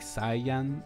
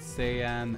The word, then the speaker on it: Saiyan: It's pronounced that way in Japanese, but in English they went with Saiyan.